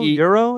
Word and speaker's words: gyro: Euro? How do you pronounce this? I think officially they call it Euro. Who's they? But in Greece, like, but I call it gyro.